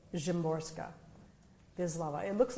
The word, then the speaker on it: Szymborska: But two Polish poets, and one of them is Wisława Szymborska.